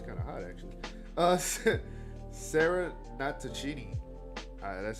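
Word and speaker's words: Natochenny: Sarah Natachini, that's how you pronounce her name, who wasn't allowed to play the video game as a kid, but adored the television series.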